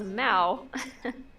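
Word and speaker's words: Mau: Aaron says the Egyptian word for cat is Mao. Not sure how it's spelled.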